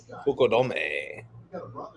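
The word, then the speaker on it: Fukudome: Fukodome.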